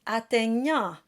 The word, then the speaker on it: atteignant: And then the tricky word in this line is atteignant. Now in speech, that GN is pronounced by sort of closing the back of the throat, but in singing, it's good to bring things forward.